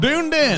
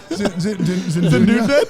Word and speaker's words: Dunedin: Dunedin. That's how you say it. Dunedin. Dunedin. Dunedin. It reads Dunedin, but they say it differently.